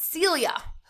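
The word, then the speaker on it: cilia: tiny hairs are called celia rhymes with amelia celia are tiny these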